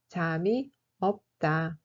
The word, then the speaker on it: 잠이 없다: peu, on utilise l'expression 잠이 없다. 잠이 없다. L'adjectif 많다 veut dire nombreux, abondant, avoir beaucoup, etc. Et 없다 est son contraire. 잠이 없다 se prononce comme 잠이 없다.